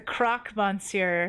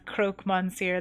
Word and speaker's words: croque monsieur: The croque monsieur, not the croque monsieur. That's hilarious. People always get the pronunciation wrong. Croque monsieur, my name is...